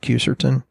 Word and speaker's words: quercetin: And then there's this thing called quercetin. Some people pronounce it quercetin.